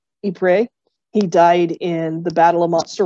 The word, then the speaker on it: Ypres: His brother, my great uncle Donald, died in, I'm never going to pronounce this well because I never took French, but it's Ypres.